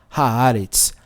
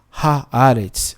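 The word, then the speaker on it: הארץ: Como tem um H antes, muda o som. Em vez de falar fala A e fica haaretz. Haaretz.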